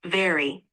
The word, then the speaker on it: vary: It's pronounced very.